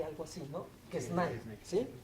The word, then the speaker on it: Quesnay: Quené se pronuncia en francés, se escribe Quesnay, algo así, ¿no? Quesnay, ¿sí? Quené.